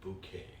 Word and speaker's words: Bucket: sound so awesome her last name was actually bucket but she pronounced it bouquet and it just it's it's funny she has